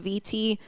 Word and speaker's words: Vitti: I've been reading Alyssa, I think her last name, I think it's pronounced VT, but VITTI.